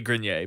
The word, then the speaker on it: Grenier: from Entourage or Adrian Grenier if you've never heard his name pronounced yeah it's actually green yeh but but anyway so